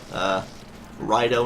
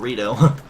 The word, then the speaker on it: Rito: It's like pronouncing any race in Zelda. You better not say Deku instead of Deku. Don't say Rido instead of Rito.